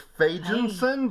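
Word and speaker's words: Fagenson: Yeah, I think it's Fagensen, but it's spelled it's spelled in a way that would make you pronounce it with an a sound and not an a sound.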